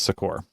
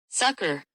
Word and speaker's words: succor: So the pronunciation is exactly the same.